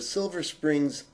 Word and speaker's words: Silver Spring: tour are in the Silver Springs Maryland area mark correct pronunciation is in the singular silver spring and it has a